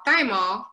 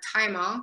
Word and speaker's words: thymol: in a chemical called thymol or thymol depending on your pronunciation and it gives it